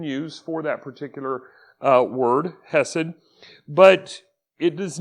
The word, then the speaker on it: hesed: i'm just going to use the english pronunciation for that and it's basically hesed h-e-s-e-d so that word